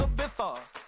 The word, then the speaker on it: Ibiza: Yeah, it's pronounced Ibiza, actually. Yeah.